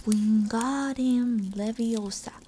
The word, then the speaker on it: Wingardium Leviosa: saying it wrong having heard hermane snap it's wingardium leviosa make the god nice and long you do